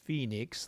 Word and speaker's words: Phoenix: this is the Phoenix that's pronounced Phoenix like the city north of us of us of